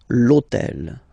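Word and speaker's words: l'hôtel: starts with Ash but remember that in French we don't pronounce Ash okay so basically the first sound of the word is the vowel O Okay so for the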